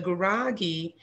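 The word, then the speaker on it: Gurage: She was of Amhara descent from one parent, and the other parent was of Guragi descent. And the Guragi, that's spelled, it looks like garage, but it's actually G-U-R-A-G-E, Guragi.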